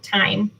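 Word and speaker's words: thyme: It's on our Facebook page, but it's also called Cooking Time, and time is spelled T-H-Y-M-E.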